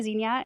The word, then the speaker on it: zinnia: There's two plants that I have switched the way I pronounce it. And zinnia is how I pronounce it now. It's zinnia and peony. I say peony instead of peony.